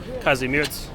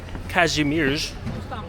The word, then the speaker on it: Kazimierz: And now my time is short, so a lot of the time I'm spending here in Kazimierz, or as I've learned in Polish, it's pronounced Kazimierz, is in the dark.